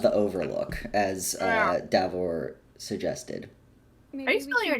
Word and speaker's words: Davor: somewhere that's perhaps not the Overlook as uh davor suggested are you still your name uh d a v o r okay I thought so there the Y is silent there's a y no it's silent when